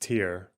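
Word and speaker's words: Tyre: It's pronounced tier. Well, I'm white, so I'm calling it tire because it's pronounced Okay. Tier.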